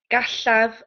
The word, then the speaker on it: gallaf: Gallaf wrando. Say that again. Gallaf, so the double L is it shh. Gallaf wrando.